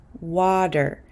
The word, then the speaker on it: water: have this famous word water water because this T is between an A and an R I'm going to pronounce it as a quick D sound water water water these rules apply even